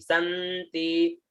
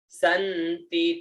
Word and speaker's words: संति: फिर आता है स आधा न और ती, संति, संति, ती में आगे बीच में, संति।